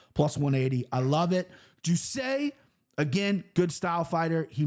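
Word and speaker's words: Jousset: John's probably going to kill me with that pronunciation. Jusset.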